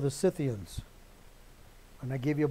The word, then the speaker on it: Scythians: They were famous, and I've told you this more than once, they were famous, these Scythians, or Scythians more properly pronounced, for being able to